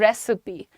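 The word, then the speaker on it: recipe: The pronunciation is रेसिपी, रेसिपी नहीं रेसिपी, रेसिपी, right everyone, easily written here.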